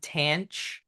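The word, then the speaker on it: tanh: we have hyperbolic t this is pronounced tan it rhymes with ranch and tan is just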